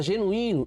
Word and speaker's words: genuíno: Palavra genuíno, igual babuíno, igual a beduíno. Regra do hiato, recebe acento. Genuíno, I tônico, separado na sílaba ou acompanhado da letra S, não seguido de NH, recebe acento.